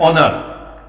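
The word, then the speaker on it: honour: स्टोरियन, silent होता है। ऑनर, एन ऑनर, an umbrella, an elephant, N eager.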